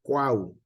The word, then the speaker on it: Cuau: un Cuauhtémoc Hola cuau Es que ponemos toda las primeras sílabas sale Porque así es lo correcto no le decimos q o Cuba sino cuau Sale entonces esa palabra tiene